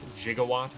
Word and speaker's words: gigawatt: I may just be misremembering or misquoting this, but it wasn't the uh preferred pronunciation for uh gigawatt jigawatt back in the day according to the one consultant they had. But uh obviously he lost the war.